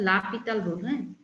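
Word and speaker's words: L'Hôpital: তারপর এসই ঠিক আছে অনেকের মনে হতে পারে হসপিটাল উচ্চারণ করা হয় লাপিতাল এখন রুল আমরা কখন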